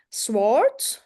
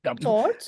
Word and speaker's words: sword: he also brought his sword sword yeah try not to pronounce the P sorry the W the P there no sword yeah don't don't pronounce the W it's not there sword sword it's not